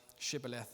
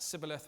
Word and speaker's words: shibboleth: they ask them to say this word, shibboleth, and if they say it sibboleth without the sh, they hack the person down because they know the Ephraimites can't pronounce it properly.